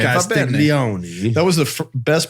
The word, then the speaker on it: Castiglione: Castiglione. That was the best pronunciation I've ever heard you deliver, Ryan Shield.